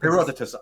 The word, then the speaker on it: Herodotus: Is it Heroditus maybe? Heroditus. Heroditus. That's how it's pronounced.